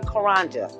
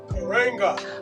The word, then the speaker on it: Karenga: say it correctly please correct me dr mulatta karanja karenga karenga okay it was created in 1966 and